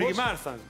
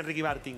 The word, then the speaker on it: Ricky Martin: ¿El cantante Ricky, cómo lo pronunciamos? Ricky Marfan. Se dice Ricky Marfan. ¿Saben que dice Ricky Marfan? Marfan. Dice Ricky Martin.